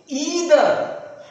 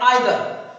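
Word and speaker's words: either: अथीस, caffeine, ceiling, conceit, conceive, deceit, deceive, DeFi, ईदर। इसका एक और प्रोनाउंसिएशन होता है जो ज्यादा लोकप्रिय है, आइदर। तो बच्चे ईदर भी कह सकते हैं इस शब्द को और आइदर भी पढ़ सकते हैं।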